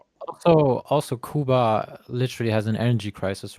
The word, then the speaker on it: Cuba: That's how you pronounce it. Kuba.